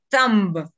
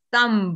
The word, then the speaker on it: thumb: nueva para la mayoría, thumb, o zamba, un poco más pronunciada esa TH, thumb, ok, thumb, es el dedo pulgar, listo, para que lo aprendamos.